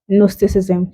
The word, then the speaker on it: Gnosticism: Gnosticism, the J is silent.